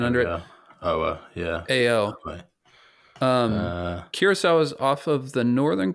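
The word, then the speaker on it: Curaçao: to uh an island in the Caribbean called kirasa to do a talk a couple weeks ago where which island is that so you spell it kirasa at Cur a Google it yeah and then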